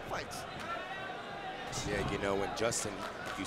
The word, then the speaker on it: Jostin: is the prospect that's Ortiz Justin Ortiz but they spell it j s t i n Justin Ortiz has been known